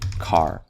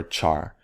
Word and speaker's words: char: and then we have our character which is car or char it doesn't matter how you pronounce it some people say char i say car because it's short for character not character right so in numbers we